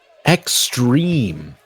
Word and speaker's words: Xtreme: Xtreme. I like the X. No E. Just extreme. Pronounced the same.